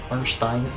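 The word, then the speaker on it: Ornstein: if you're going for orstein orstein that's the real pronunciation you should try and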